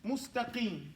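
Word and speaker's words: مستقيم: Now, first of all, we say it wrong. We say it like this. Let me erase this board. We say this, mustaqim. That's how we say it. Say that. Mustaqim. This is wrong. Arabic doesn't speak that way.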